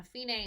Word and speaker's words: fine: a should be now Fein a is the Italian word meeting end and it's spelled F I and II just like the English word meaning fine so what I